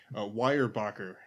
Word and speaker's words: Weyerbacher: I have here from, watch me butcher this name, Weyerbacher, Sunday Morning Stout. It's actually pronounced correctly.